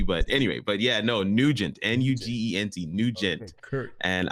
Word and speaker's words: Nugent: And let me tell you, I'm gonna pronounce your last name, and I hope I pronounce it right. Right. Nargis. Nugent. Okay, Nugent.